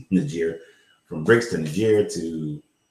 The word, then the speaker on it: Niger: I went from BRICS to Niger to, and it's not pronounced Niger, but it's Niger.